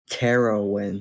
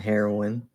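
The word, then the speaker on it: Terrowin: do you spell that terroin not heroin it's uh t-e-r-r-o-w-i-n in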